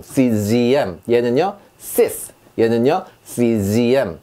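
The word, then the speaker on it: six: 6이라는 숫자죠. sis라고 합니다. sis. 여기서는 시옷 발음이 났어요. 자, 다음 보시면 여섯 번째라는 단어인데요. czm 합니다. 자, 지읒 발음. czm. 얘는요, sis.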